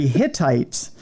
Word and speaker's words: Hittites: were researchers believe the I'm going to pronounce this very slowly so it doesn't sound like hitlerite but it's the Hittites a Bronze Age Anatolian